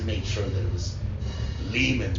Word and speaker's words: Lehman: overseas, in Germany, the name is German and they pronounce it Lehman. And then there's places where so I wanted to make sure that it was Lehman rhymes with demon.